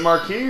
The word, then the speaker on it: marque: I have is work is it Marquee or Mark or I think it's Mark letters of Mark yeah it's spelled m a r q e by the way it's